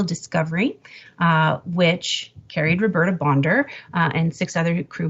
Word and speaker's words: Bondar: pronunciation of her name it is indeed bonder not bondar um something that was